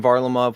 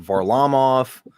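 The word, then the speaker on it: Varlamov: but it's fine yeah so like we've heard simeon varlimov we've heard var lam off i think it all kind of depends on who is actually pronouncing it to be honest it's like where you live yeah right if you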